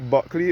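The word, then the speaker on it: Bulkeley: Buckley is spelled B-U-L-K-E-L-E-Y.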